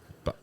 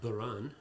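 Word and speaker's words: Bodhrán: in Ireland okay however it's called Bon and in Irish gilic it means noisy right and does exactly what it says on the tin yeah it's it's it's mostly mispronounced ban okay or I think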